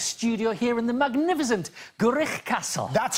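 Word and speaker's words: Gwrych: Hello, good evening, Noswith Da, and welcome to our brand new gatehouse studio here in the magnificent Gurich Castle.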